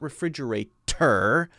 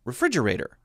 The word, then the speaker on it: refrigerator: So the difference would be we don't hit the T so hard. Not refrigerator, but refrigerator. Refrigerator. So you hear that? There's a light D sound. Dur, dur, dur.